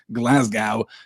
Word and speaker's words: Glasgow: where I lived as if it rhymed with cow really bugged me Glasgow just saying yes though